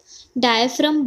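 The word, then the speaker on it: diaphragm: अब लिख लेते हैं, सी जब लिख लो फटाफट इसे कि जब इनहेलेशन होती है तो डायफ्राम बोलते हैं, इसकी स्पेलिंग अलग होती है, सी जी आ रहा है बीच में।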